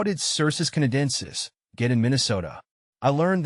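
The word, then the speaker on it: Cercis canadensis: you pronounce cus canadensis I pronounce cus canadensis as CIS Canadian sis the name might sound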